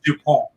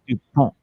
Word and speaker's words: Dupont: Is Sydney's last name Dupont or Dupont? How did you pronounce it? It's Dupont. Yeah, the first way. Dupont.